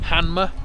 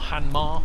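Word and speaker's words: Hanmer: And we're in a place called Hanma or Hanmar, however you want to pronounce it.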